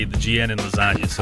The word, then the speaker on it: lasagna: So you would say it just like you would say the GN in lasagna.